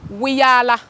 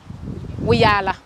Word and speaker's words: Wiyaala: It sounds like Rihanna, which is amazing, but it's, yes, because everybody keeps saying Wiyaala, wee. Please, I love Rihanna to bits. My name is Wiyaala. Wiyaala.